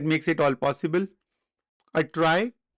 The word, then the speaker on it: trie: A try pronounced as try, also known as a prefix tree.